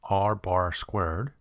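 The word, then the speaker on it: R̄²: It is pronounced as R bar squared.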